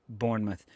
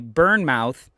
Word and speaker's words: Bournemouth: can save, I wonder how Bielsa would pronounce Bournemouth, because we have a hard time when we first saw it over here and not knowing the club. There you go. When we would say Burnmouth, that's how a lot of people when they